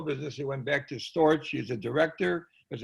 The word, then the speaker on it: Storch: The K is pronounced in Europe as Ch. Here it is Ch.